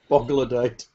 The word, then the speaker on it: Bogladite: Ladite. Luddite or leadite? L-O-D-Y-T-E. Yeah, like the end of troglodyte.